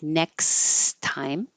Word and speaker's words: next time: many connections just um no double te just one t sound so it sounds like next time no worries maybe next